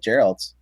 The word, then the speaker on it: Geralt: So I think it's pronounced Geralt though.